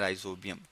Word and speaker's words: Rhizobium: ठीक है जी, nitrogen fixing bacteria हम कहते हैं राइजोबियम।